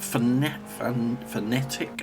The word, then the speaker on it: Fanatec: That's how I pronounce it anyway. I know some people call it phonetic. I don't know. I'll call it Fanatec. Can't pronounce it any other way myself, but there we go.